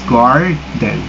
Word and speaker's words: garden: So in a word garden, the first syllables being stressed is garden.